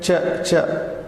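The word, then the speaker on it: च: And then cha. We have come to chavarga now. Cha is something like in English chain. The word chain is close to chain pronunciation. Change, word change in English.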